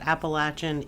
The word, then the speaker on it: Appalachian: the strange and paranormal stories from along the Appalachian National Scenic Trail or the Appalachian National Scenic Trail, depending on where you're from. Either pronunciation is acceptable. Though I will say that Appalachin is technically the correct way because it's named